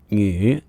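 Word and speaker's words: 女: character at the top on the left is pronounced new and means woman or female and is also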